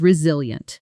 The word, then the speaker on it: resilient: Feeling the stress pattern. Reil with the emphasis firmly on the middle syllable. She's resilient.